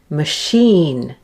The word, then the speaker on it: machine: attraction initial musician delicious less common is when it's spelt with the letters CH in words of French origin like machine and champagne and of course the French designer Chanel and then there's the word